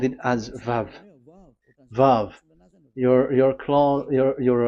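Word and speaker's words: וָו: closed v in so it's v as in vog so it's really v how to read vog so the word the the the shape vavv is really pronounced vv like Vog pronunciation that is it pronunciation.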